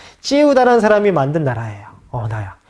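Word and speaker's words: Triệu Đà: 요 진에서 초한으로 넘어가는 요 시기에 진나라의 장군 파견돼 가지고 남비엣이라는 나라를 공격하는데 그 사람 이름이 찌에우다. 찌에우다라는 사람이 만든 나라예요.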